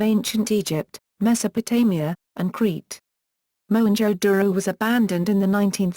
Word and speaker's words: Mohenjo-daro: Mohenjo-daro. Mohenjo-daro, lit. Mound of the Dead. English pronunciation, /moʊ-hɛn.dʒoʊ, /roʊ/, is an archaeological site in the province of Sindh, Pakistan.